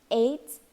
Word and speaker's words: AIDS: It's not AIDS. This is an acronym like NASA, SCUBA, or NATO. It is not an initialism like USA, SOS, or VIP. AIDS rhymes with mates.